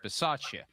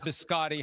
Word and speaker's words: Bisaccia: Between you and Chris, we'd have to work on the proper pronunciation of the Italian last names, but that would become a necessity at that point if Bisciotti hires Bisaccia, not Biscotti hiring or whatever you said.